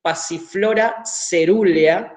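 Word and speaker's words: Passiflora caerulea: Es Passiflora cerulea, ¿sí? Lo pronuncio así con la pronunciación en latín.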